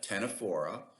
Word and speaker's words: Ctenophora: stinging organisms, and the Ctenophora, the comb jellies. The C is silent on both of those phyla.